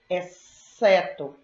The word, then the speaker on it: exceto: E XC, exceto. Exceto o XC é representado também pelo som S.